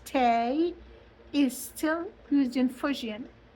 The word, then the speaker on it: te: or cha So, te t e pronounced tay is still used in Fujian.